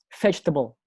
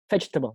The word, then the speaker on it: vegetable: Nah, sama dengan vegetable, vegetable.